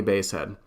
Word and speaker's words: Basehead: It's definitely Basehead. If you look at his profile, under it says his real name, he clarifies the pronunciation of his name, and it's Basehead, like the musical instrument.